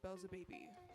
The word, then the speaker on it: Beelzebaby: Oh yeah, I do art under Belza Baby. So it's like Belzebub, but just baby.